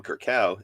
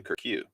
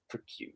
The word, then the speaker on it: Kirkow: and I learned that his name is not Cam Kirkow, it's Cam Kirkew. Kirkew, yeah. Even though it is spelled Kirkow.